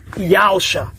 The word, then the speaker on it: Yahusha: é salvação de Yau, pronunciado pelos judeus e também agora por nós, por Yahusha.